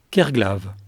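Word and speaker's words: Kerglaw: Le berceau originel des forges d'enbon s'orthographie aujourd'hui K E R G L A W et s'énonce communément Kerglave. Cette façon de prononcer est relativement récente comme l'attestent les formes anciennes.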